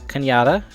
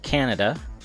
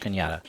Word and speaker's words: Cañada: Yes, that is Cañada. It is not Canada. I know it looks like Canada. It's spelled like Canada, but it's pronounced Cañada.